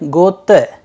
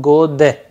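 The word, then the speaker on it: год: So, it in the end it sounds like gote instead of gode. It is because of the rule applied here of devoicing the consonant.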